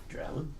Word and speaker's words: Drouin: So it's Hanging with Vrand with Paul Harrison, Chris Vrand, and we have a guest today, Drowen. Ew. That's probably the least butchered I've had my name. Drowen?